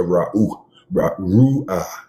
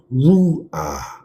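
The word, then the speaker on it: Ruach: I can't play around with the Ru'ah. That's how you say it. Ru'ah.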